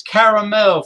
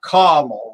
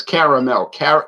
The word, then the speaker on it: caramel: Yes, and it is caramel, folks, not caramel, like these annoying people that say caramel. Yeah, it's caramel. There's 3 syllables. Car-a-mel. It's not really difficult.